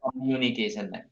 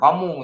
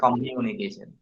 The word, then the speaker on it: communication: Nah, itu bacanya communication, bukan komu, tapi communication.